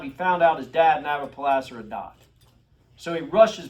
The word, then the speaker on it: Nabopolassar: I don't know how to pronounce it. That's what it is. Nabopolassar. Nabopolassar, yes.